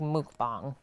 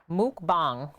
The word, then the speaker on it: mukbang: food eating show and it's actually pronounced like Muk bomb mukbang a video especially one